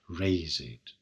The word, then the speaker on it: razed: And note that raised is pronounced with 2 syllables here, razed.